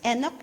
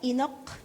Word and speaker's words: Enoch: Number two, e, how do you pronounce this? Enok. Enok. Enok.